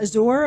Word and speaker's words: Azure: Yeah, Azure, I guess. There's an E at the end, but it sounds like you would pronounce it without the E.